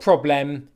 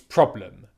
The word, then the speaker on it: problem: people would say problem problem problem it's not problem its problem problem problem can you hear the difference between